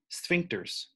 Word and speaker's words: sphincter: They are called sphincters. No, weird to pronounce, sphincter.